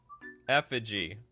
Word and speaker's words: effigy: gonna look afterwards everyone's helping me with the pronounce Effigy effigy foreign is it effigy machine guns Effigy I don't know what this this word is